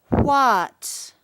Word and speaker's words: what: It looks like there's water underneath the letters wh. That's because the beginning of this word sounds like the beginning of the word water. W. The word is what?